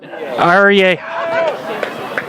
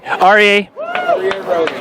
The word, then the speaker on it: Aryeh: So you're going to have to correct me if I pronounce this as Aryeh, right? Aryeh. Okay, Aryeh.